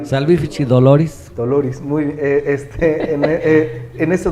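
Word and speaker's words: salvifici doloris: Este muy hermosa salv fichi doloris Así se pronuncia salich doloris doloris muy este en ese documento no es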